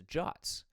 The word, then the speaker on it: JWT: otherwise known as JWTs, otherwise known as Jots. Um, which I've always found a bit odd, but that is the intended or at least the accepted pronunciation.